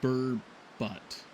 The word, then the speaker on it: burbot: Bourbot is pronounced burbot. Phonetically spelled as bourbet. Oh, so it is like bourbet.